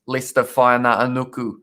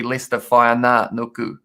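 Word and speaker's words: Leicester Fainga'anuku: I only learnt how to pronounce Lester Whaina Anuku very recently, and I think I still put an extra R in the middle of it.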